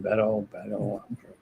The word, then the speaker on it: Beto: How do we pronounce his name? Beto.